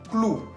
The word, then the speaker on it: clou: Otro ejemplo que sigue, clou. Clou. Se escribe con la O-U al final, que tiene sonido U.